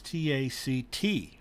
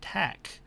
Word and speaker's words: tack: and i frequently see people misspell that as t-a-c-t or pronounce it that way it's not taking a different tact it's taking a different tack so what that means is what it means